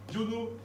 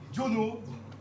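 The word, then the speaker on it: Diono: Jono. Ja? Non. Est-ce que vous pouvez me l'épeler, s'il vous plaît? Bah, comme ça se prononce, hein, il n'y a pas de piège, hein. Justement, bah, D-I-O-N-O. Jono.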